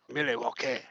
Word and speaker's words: Milwaukee: Now, they moved to Milwaukee or you could pronounce it Milwake.